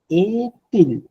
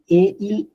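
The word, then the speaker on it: est-il: কাউকে যদি টাইম জিজ্ঞেস করেন তখন বলতে হবে কেল অহ এ তিল। এটা না ওই যে এ ইল আসতেছে না, বাট এ ইল না, প্রনাউন্সিয়েশনটা হয় এতিল একসাথে, কেল অফ এতিল।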